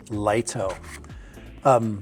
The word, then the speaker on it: Lito: So the correct pronunciation is Lito.